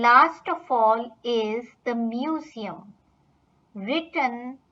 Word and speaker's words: Museum: And last of all is the museum, written like this in German but pronounced das Museum.